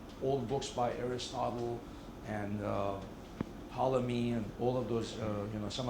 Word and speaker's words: Ptolemy: You spell his name starting with a T, but you don't pronounce it. So just say Ptolemy.